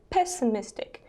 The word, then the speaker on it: pessimistic: Stubborn, pessimistic, опять два ударения, да? Optimistic, pessimistic, unreliable, опять же два ударения, unreliable, irritable, impatient, insincere.